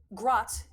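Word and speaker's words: Gratt: um one is uh grat spelled g r a t t it like kind of garat but like one syllable um grat is a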